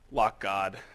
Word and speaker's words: LockGD: Skylar Town at Shoebox and LockGD, which, of course, is pronounced LockGod, just if you need the update.